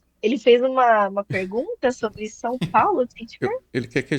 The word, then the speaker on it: São Paulo: São Paulo.